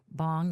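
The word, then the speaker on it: bhang: I don't know if it's bang or bong or bong. Bong. That's how you pronounce it.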